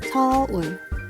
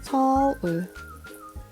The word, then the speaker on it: 서울: 서울 is the word. 서울. Oh, so 서울 is how we would pronounce it.